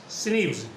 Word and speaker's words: SNP: There are about 1.4 million locations where DNA of different persons differ in single ways, called single nucleotide polymorphism, pronounced as SNPs.